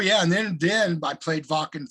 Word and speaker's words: Wacken: Oh yeah, and then I played Wacken 3 times with Metal Church. So that was I always thought it was called whacking. well, you know what? Because they pronounce their V's and W's.